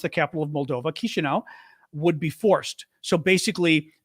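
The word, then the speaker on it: Chișinău: I learned that I learned today how to pronounce the capital of Moldova kishinau would be forced so basically do what they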